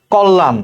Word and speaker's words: কল্যাণ: কল্যাণ, দেখো ক শব্দ, ক সাথে একটা অ আছে, শব্দের আদ্য অ। এরপরে যে অক্ষরটা আছে তার সাথে দেখো জফলা আছে, তাহলে এই কল্যাণটা ওকারের মতো উচ্চারণ হবে কল্যাণ।